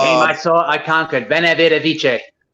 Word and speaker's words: veni vidi vici: Veni vidi vici. Yes, pronounced with a W.